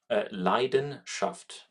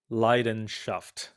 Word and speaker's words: Leidenschaft: How do you pronounce it again? Leidenschaft. Leidenschaft.